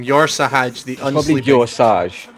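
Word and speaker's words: Yor'sahj: Did you just call him Yor Sahaj? Yor Sahaj. That's this guy's name. Yor Sahaj, the unsleeping. Probably Yor Sahaj. Yor Sahaj, yeah. It's like Corsage, but a bit more gay.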